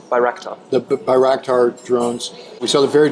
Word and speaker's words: Bayraktar: Because we've already talked about the Bakhtar, am I pronouncing that right? Bayraktar.